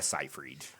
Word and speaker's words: Seyfried: It's a weird spelling to it's not phonetically spelled. Yeah, it's I'm all weird. fucked up when I try to read But that. it's Amanda Seyfried.